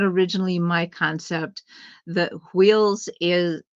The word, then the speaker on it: hweol: In a Nordic construct, instead of chakras, we have wheels, and it's spelled HWEOL, wheel, Mhm. even though it's pronounced Mhm. wheel, wheels.